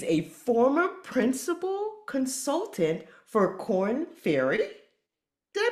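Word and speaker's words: Korn Ferry: She's a former principal consultant for Corn Ferry. Did I pronounce that right?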